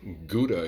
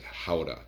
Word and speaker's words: Gouda: a little cheese that we like to call Gouda here in the United States but over in the Netherlands in Holland in a little town called Gouda they pronounce it howa now purists would call it how to and